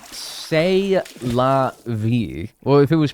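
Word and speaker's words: C'est la vie: Pronounced say la v.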